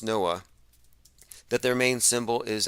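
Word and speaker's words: NOAA: oceanic and atmospheric administration noah it's actually pronounced noah that their main symbol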